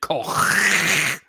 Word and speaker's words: Koch: Cook? How do you pronounce it? In German, obviously, Koch.